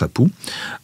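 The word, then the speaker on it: apu: Alors, le roi s'entoure de quatre apou, ça se prononce apou.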